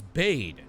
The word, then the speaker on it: bade: No, it's not bad. It's bade.